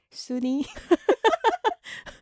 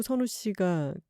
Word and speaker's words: 선우: 근데 선우 씨는 선우잖아요. 네, W 발음이 좀 어렵죠. 네, 그래서 어떻게 발음을 하셨었죠? 순이.